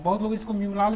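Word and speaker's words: mural: म्यूरल बोलते कि मुराल बोलते, उच्चारण क्या होता है इसका? अरे म्यूरल होता उच्चारण को लेकर के कंफ्यूज मत रहिए, बस आप समझ रहे हैं उसका अर्थ को समझिए ना।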